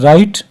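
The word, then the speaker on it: write: letters जैसे example है राइट राइट में अगर आप देखते हैं तो देखें ये डब्लू जो है ये हम नहीं पढ़ते नाइफ नाइफ में आपने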